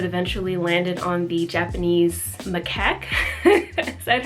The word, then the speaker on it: macaque: different animals that eventually landed on the Japanese macaque that's how you pronounce it they're the snow monkeys the ones